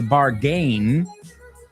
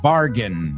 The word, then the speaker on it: bargain: No se dice bargain, aunque la palabra gain a secas sí que se dice gain, pero como terminación es bargain.